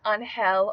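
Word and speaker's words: Ángel: number 67 which is on hell or angel just the spanish or english word for angel angel or on hell has been used a lot in the u.s.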